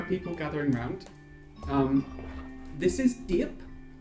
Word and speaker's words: Diep: So if there are people gathering round, this is Diep. D-I-E-P is how you pronounce their name.